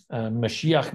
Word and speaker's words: Mashiach: Mashiach Ben Joseph is the way it's pronounced.